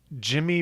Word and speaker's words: Gymmy: That says Jimmy Buff Fit. And Jimmy is spelled GYMMY.